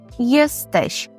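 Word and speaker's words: jesteś: є - це єстещ єстещ увага щоб вимовляти м'яко закінчення щ єстещ Ми хочемо запитати Де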